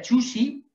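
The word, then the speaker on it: Zhu Xi: Se pronuncia Chuxi, que va de 1130 a 1200.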